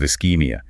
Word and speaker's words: ischemia: you see signs of ischemia. Pronounced is-keem-ee-you. The chi makes a hard k sound.